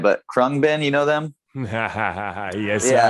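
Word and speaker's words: Khruangbin: um let's see i don't know if i pronounce right but krung bin you know them yes yeah i do we're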